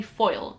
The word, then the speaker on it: Foyle: main character is called Gully foil granted it's spelled f o y l e um but he's basically